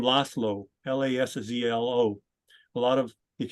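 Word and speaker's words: László: but it's not pronounced you don't pronounce it like a z that's actually the soft s so for example the name laslo l-a-s-z-l-o a lot of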